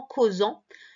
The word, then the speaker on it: causant: tuent parfois en causant attention le s ici il se prononce parce qu'elle est entre deux voyelles le huer le a donc en causant de graves maladies pas